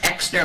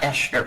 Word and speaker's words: Exner: And just, it's pronounced Exner, like an X, not Eschner, but it's the German, it's German, so Exner actually with an, like an Thank you.